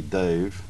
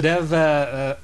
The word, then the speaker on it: Dav: Well, it's Dev, but so many people mispronounce the name and they call me Dave, and I'm just sick of correcting people, so I said, okay, then okay.